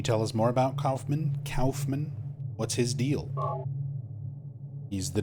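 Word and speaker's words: Kaufmann: It's funny because the other characters, like when Harry says it, he says Kaufman. Most people read that name as Kaufman, but the character himself pronounces it Calfman.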